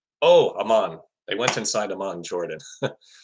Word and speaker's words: Amman: Teams went inside a man. Oh, Amman. They went inside Amman, Jordan. I really got to work on my pronunciation of cities in the Middle East.